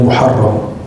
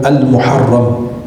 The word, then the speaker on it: al-Muharram: hijriah dan kita berada di bulan al-muharram bukan bulan Muharram. Semua kamus dalam bahasa Arab menyebutnya bulan al-Muharram. Maka pelafalan yang tepatnya al-Muharram bukan bulan Muharram. Tapi bulan al-Muharram ya secara bahasa yang lebih tepat al-Muharram.